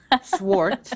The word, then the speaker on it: Svart: And I just want to put it out there, everyone, her name is pronounced Svart. It is spelled with a V, but that's apparently silent in the Danish from which it comes.